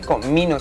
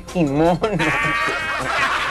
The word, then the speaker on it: kimono: Ay, Beto, por Dios, no se dice comino, se dice kimono.